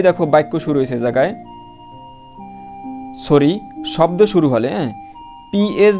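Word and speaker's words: psoriasis: তারপর দেখো এই যে সাইকোলজি, হ্যাঁ, অর্থ মনোবিজ্ঞান, হ্যাঁ, এ জায়গায় দেখো এই পি এর উচ্চারণ হয়নি। তারপর দেখো সৌরা অর্থ খোস পাঁচরা, একটা রোগের নাম, যাই হোক।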